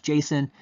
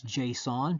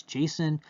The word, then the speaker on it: JSON: that the name they came up with was Jason. And over the years lots of people you will hear pronounce this as JSON because of like the object uh the the O sound. So you hear JSON.